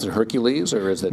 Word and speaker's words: Heracles: And so in this book, obviously her last name is, do you pronounce it Hercules, or is it? Well, Heracles is simply the Greek version of Hercules. Hercules is from the Roman.